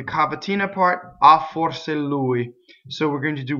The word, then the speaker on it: lui: Louie so you're gonna have two L's so Louie the accent is on the right so there's